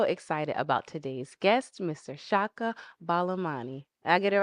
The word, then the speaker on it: Chaka Balamani: Chaka Balamani.